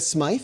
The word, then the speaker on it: Smythe: was Julia Smith and by Smith I spell it Sr she spells it rather s-m-y-t-h-e Smythe maybe Julia Smite could be uh she was